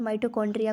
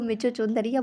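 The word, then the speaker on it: mitochondria: मैं जब 6th में थी तो मेरी फ्रेंड ने जब पहली बार माइटोकॉन्ड्रिया को पढ़ा तो उसने उसको मिचोचोंदरिया बुलाया। लाइक इतना डिफ़िकल्ट है इसका प्रोनाउंसिएशन।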